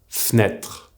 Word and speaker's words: fenêtre: Well, remember also that the mute sound E in the middle of a word will usually disappear when we speak. This is why the word fenêtre is pronounced fenêtre.